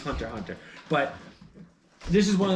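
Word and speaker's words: Hunter × Hunter: of there's Hunter Hunter it's Hunter x Hunter but it's pronounced Hunter Hunter but this is one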